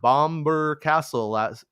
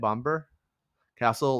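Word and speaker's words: Bamburgh Castle: Mark says, "I was at Bomber Castle is how you say it, Bomber Castle last month, and me and the girlfriend got pics of the set.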